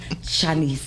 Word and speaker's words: Chanese: So I'm going to introduce the author, actress, beautiful human being that I know, Chinese.